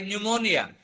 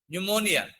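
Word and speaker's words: pneumonia: అలాగే న్యూమోనియా. పిఎన్ఈయు. న్యూమోనియా.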